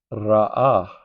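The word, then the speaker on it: Ra'ah: Then Yahweh Rah. R A H. So R A H.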